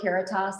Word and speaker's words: Caritas: phrase because it helps people remember how to pronounce our name uh the word keratos actually comes from latin and it means charity